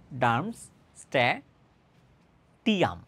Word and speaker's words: Darmstadtium: ঠিক আছে একটু ঝামেলার নাম্যা এটাকে বলা হয় ডারমস স্ট্যাটিম এভাবে উচ্চারণ করা হয় আর কি সো এটাকে আসলে